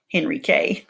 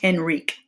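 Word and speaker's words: Henryk: And I think in the story I pronounced it Henrique. I was thinking it was a misspelling, but I think it's pronounced Henrik.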